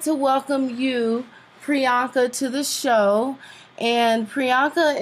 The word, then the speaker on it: Priyanka: So how do you pronounce her name? It's Priyanka. Priyanka.